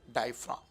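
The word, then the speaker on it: diaphragm: इसमें जी साइलेंट होगा, डायफ्राम।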